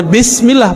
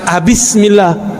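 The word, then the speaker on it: بسم الله: Tetap bacanya Bismillah, bukan Bismillah. Terus apa lagi?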